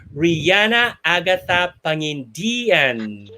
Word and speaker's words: Riana Agatha Pangindian: virtual applause give it up for pasigno's pride rihanna agatha pangin diane wow did i pronounce apparently yes you did very perfectly you